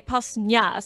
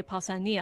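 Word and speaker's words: Pausanias: and would you so you wouldn't say pass you would say passania as he would pretty sure the pitch accidents on the iota but now i'm going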